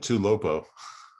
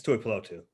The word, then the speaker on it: Tuipulotu: You said Tuilopo. Oh, it's Tuipulotu.